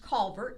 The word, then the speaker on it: Calvert: in the middle carrying the Calbert flag sometimes pronounced Calvert depending where in Maryland you live and they are in